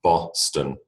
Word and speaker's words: Boston: strangely if you do Boston like London at least here you've got one letter O making an o sound B Boston but it is the schwar in the second position Boston all right although people